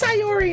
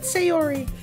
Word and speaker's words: Sayori: By the way, my name is fucking pronounced Sayori, not Sayori.